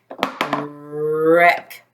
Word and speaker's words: wreck: let's sound it or blend it together a wreck what's the word wreck very good this is